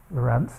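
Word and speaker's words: Lorenz: By the way, I should have said that this Lorentz, is not the Lorentz, but his name is pronounced Lorentz, even though it has a C on the end.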